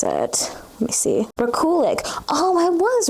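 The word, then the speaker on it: Rekulak: Let me see how you pronounce it and such, because I'm not too sure how you pronounce it. Let me see. Rakulik.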